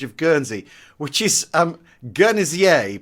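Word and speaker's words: Guernésiais: Guernsey which is um guernsier pronounced with a soft G like like the word gin so the journey CA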